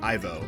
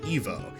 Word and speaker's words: Ivo: For the longest time, I always used to say Ivo, but I believe it is Evo. The name Ivo, or Evo, is of French origin, I believe. The English pronunciation is Ivo, with the original being Evo.